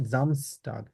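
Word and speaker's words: Samstag: আসলে থাকতে পারে তবে নরমালি নেটিভরা যেভাবে বলে জার্মানরা সেটা বলে হচ্ছে জামস টাগ হ্যাঁ নরমালি তারা এস কে জেড এর মত আর জেড কে এস এর মত উচ্চারণ করো কিন্তু মাঝখানে যদি কোন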